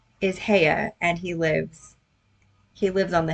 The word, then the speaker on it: Haigha: He pronounced it so as to rhyme with mayor." Heya? That is not how it's spelled. It's spelled Haigha. Heya, mayor.